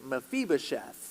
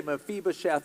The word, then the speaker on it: Mephibosheth: the what's the young man's name and it's mephibosheth everybody say mephibosheth on three and you pronounce it all right one two three yeah